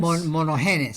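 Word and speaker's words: μονογενής: Esa palabra unigénito, dijiste que, ¿cómo lo pronuncias en griego? ¿Monogenes? Monogenes.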